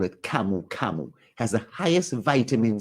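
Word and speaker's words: camu camu: best fruits in um Peru they call it kamu kamu has the highest vitamin C levels in the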